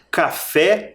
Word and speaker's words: café: terminam terminam com e porém café o som mais forte está na última sílaba no fé no pote a sílaba